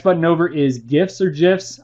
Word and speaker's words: GIF: Next button over is GIFs or GIFs. I'm going to call them GIFs because that's really how it should be pronounced. It's even called Giphy, guys. Look, Giphy, GIF.